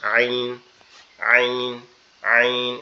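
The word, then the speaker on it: ع: শক্ত আওয়াজে আইন আইন আইন এরকমভাবে একটু কি? চাপা আওয়াজে উচ্চারিত হয়। কিন্তু গয়ইনটা হচ্ছে কোন জায়গা থেকে উচ্চারণ হবে?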